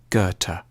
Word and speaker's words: Goethe: supposed to say it a safe bet is to start with a hard G on G and end with a t Gerta Johan Wolfgang van goerta